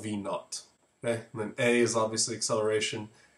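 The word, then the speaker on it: v₀: final or initial and that zero you pronounce it v naught all right so you can call it V initial whatever but it's called v naught a is obviously the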